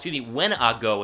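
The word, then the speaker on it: Wanogho: It's pronounced Wenago is how you say his last name. Prince Tega Wenago out of Auburn at number 210 overall in the 6th round.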